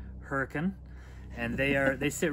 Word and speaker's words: Hurricane: together by the way the city looks like hurricane but it's pronounced hurricane and they are they sit right next to